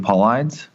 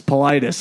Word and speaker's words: Paulides: this so David David Paulides yes Politis I think is how you say it but yes it seems